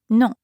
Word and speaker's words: non: Well, in that case, he could simply say non or no. It rhymes with bon in bonjour.